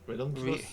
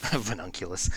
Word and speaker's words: Reuniclus: Reuniclus? Yeah, Reuniclus. Reuniclus, I think, is how you're supposed to say it, but that's a stupid pronunciation and I hate it.